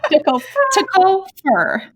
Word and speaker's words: TCOFERRR: It's Tickle fur.